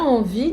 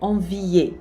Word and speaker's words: envie: Envie, você não vai dizer envier, por exemplo. Esse E no final não se pronuncia de jeito nenhum.